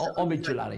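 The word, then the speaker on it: Omid Djalili: that's Omid Jalali, not Omid.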